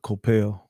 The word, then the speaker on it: Koppel: Let me bring forth to the discussion a comment, a statement, a quote by supposed intellect journalist Ted Koppel. Some pronounce it Coppell.